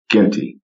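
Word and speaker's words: Zhgenti: n t i uh my um english background says the z and the h is silent someone will pronounce it uh ginty uh six nine kid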